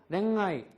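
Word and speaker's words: 恋愛: 응 발음이 나는데요 응 발음은 아사자와 야하 행 앞에서나 또는 단어의 끝에 응유로 끝나는 경우 이럴 때에는 대부분요 응발음이 비음이 강한 음이 나온다. 그래서 랭아이 랭아 랭아이 랭아이가 뭐야?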